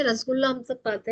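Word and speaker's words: রসগোল্লা: बंगाली रसगुल्ले और उड़ीसा के रसगुल्ले में तो सबसे पहले तो प्रोनाउंसिएशन देख लीजिए। वेस्ट बंगाल का जो रसगुल्ला होता है उसको रसगुल्ला कहते हैं। आर ए एस ए जी U double A एल ए और ये जो उड़ीसा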